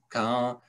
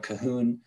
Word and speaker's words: Cahun: And although her name is Claude Cahun, it's pronounced in French Cahun. Most people in English tend to pronounce it Claude Cahun.